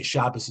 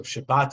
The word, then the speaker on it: Shabbat: I was about to say Shabbos is coming, but it was before Ashkenazic pronunciation, so Shabbat is coming.